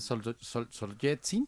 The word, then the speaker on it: Solzhenitsyn: Claro, no, bueno, de entrada yo diría que parece que Alexander Solzhenitsyn se pronuncia así, pareciera que se inspiró en revueltas para escribir el archipiélago Gulag, ¿no?